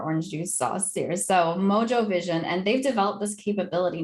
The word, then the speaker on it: Mojo Vision: Well, this is exactly what a tech company called, I'm assuming they pronounce it Mojo Vision, even though, as a Latina and Cuban woman, I would say Mojo Vision, but I don't think